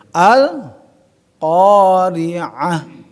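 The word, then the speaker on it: القارعة: pada zat dibaca diwakofkan ta marbutah berubah menjadi ha alqorah malqah jadi sama ya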